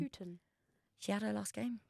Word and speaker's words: Houghton: How do you pronounce her last name? Houghton.